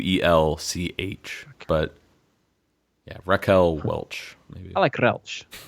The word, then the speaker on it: Welch: I've said Welsh. I can't roll my eyes very well. So, what's the correct pronunciation? Oh, I think it's Welch because it's spelled Wel C H.